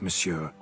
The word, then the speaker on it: monsieur: sir or better yet the emphasis falls on the last syllable see now i'd rather emphasize something else tell me what this is about monsieur or i'll change my